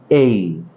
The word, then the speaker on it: A: ইংরেজি বর্ণমালার প্রথম বর্ণটি আমরা সাধারণত এ বলে থাকি, কিন্তু এর সঠিক উচ্চারণ বা কারেক্ট প্রনাউন্সিয়েশন হচ্ছে এই।